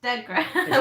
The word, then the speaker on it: DeGRA: It's DeGRA because the first part of it is Derek. The DE is Derek, which is my name.